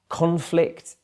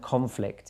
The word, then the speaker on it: conflict: Conflict and conflict. Just one syllable stress and you've got a totally different meaning.